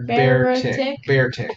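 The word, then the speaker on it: Beartic: cool cool okay uh beer tick bear attack bear Arctic bear bear tick no just bear two syllables you never know you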